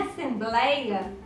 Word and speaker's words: assembleia: joia percebam que vinha assembleia a sílaba tônica é a penúltima é ele e é um ditongo aberto de pronúncia aberta é ele então assento